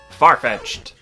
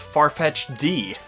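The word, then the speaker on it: Farfetch'd: degrees within 3,300 ft farfetched the wild duck Pokemon as a kid I always mispronounce its name as farfetched D I don't know why I just didn't think it would be pronounced that way until I saw it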